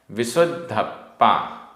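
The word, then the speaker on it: विसुद्धप्पा: अणिदिओ अणिदियो केवलो केवलो विशुद्ध धप्पा आधा द ध आधा प पूरा प विशुद्ध धप्पा परमेठी आधा ट ठ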